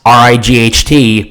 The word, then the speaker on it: right: Hear the word right, R-I-G-H-T, pronounced as right, right. The T sound disappeared. It's commonly said like that in Australia.